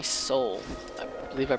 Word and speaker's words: Soule: those amazing games and his name is jeremy soule i believe i pronounce